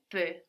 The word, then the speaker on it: peux: Je peux. Je peux. Good. And we said that both of these are spelled E-U-X, no? V-E-U-X or P-E-U-X. And that X is silent, no?